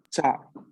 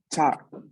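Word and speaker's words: ciao: repitan después de mí con micrófono encendido estables chau de nuevo chau chau otra como pueden escuchar aquí la y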